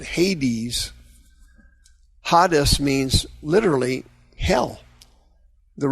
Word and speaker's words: Hades: That's the Greek word Hades. Hades, or in English they pronounce it Hades.